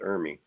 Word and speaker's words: Ermey: Well, see, in Ely Ermey, God, I keep getting his name wrong. Army or Ermey? R. Lee Ermey.